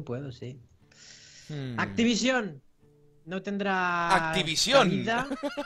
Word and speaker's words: Activision: Activision. Con acento en la O final, suena muy raro.